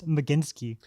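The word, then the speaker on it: Mlodzinski: girl name, no offense, Myodazinski? I looked up how to say it, the pronunciation guide. I would have never got it. It's Maginsky. Medinsky. So Medinsky has been Maginsky.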